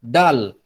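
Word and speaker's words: د: Tapi kalau dia tidak ada harakatnya sama sekali, itu dibacanya dal. Huruf dal.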